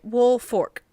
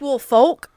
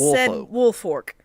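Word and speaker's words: Woolfolk: or wolf what fort it's spelled w oo LF o lk but just say it wolf ork w oo L it looks like wolf oak but it's wolf Fork all right then all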